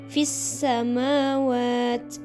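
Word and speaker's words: في السماوات: situ ada fissamawati ya Nah kalau kalian di washol ya kalau di washol disambung maka bisa fissamawati Nah kalau berhenti ya maka bacanya fisamawat itu ni jadi bukan itu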